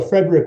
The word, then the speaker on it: Friedrich: So before we start, Gary, is it Friedrich or Frederick? You tell me. I hate Friedrich. Friedrich. This character. So Frederick would be his preferred pronunciation.